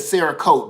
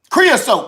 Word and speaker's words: creosote: drawing up this sarasota i did say it right i said sarah coat though didn't i yes creosote creosote creosote i said sarah code i'm thinking about painting